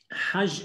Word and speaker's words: Hajj: Hajj is written Het Gimal, right? But they pronounce the G as J.